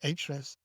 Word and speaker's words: Ahrefs: So you analyze the page in an SEO tool, and Ahrefs, I know it's spelled Ahrefs, but they pronounce it Ahrefs, SEMrush.